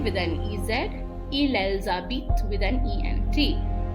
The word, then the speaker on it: habitent: an EZ, ils, elles habitent with an ENT. The ENT is not pronounced.